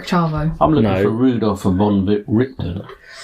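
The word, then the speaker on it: van Richten: I'm looking for Rudolf von Richten. Is it von Richten? Yeah. Not von Richthofen? No.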